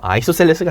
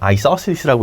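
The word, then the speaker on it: isosceles: 아이소셀레스가 아니라 아이소슬리스라고 읽어야 됩니다.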